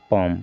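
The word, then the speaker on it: palm: ठीक इसी तरह से देखिए यहाँ पर पॉम, पॉम मीन्स हथेली, पी से हो गया प, ए से आ की मात्रा पाँव, एम से माँ, पॉम, पॉम मीन्स हथेली, एल को नहीं पढ़ना है, यानी कि सभी में क्या है?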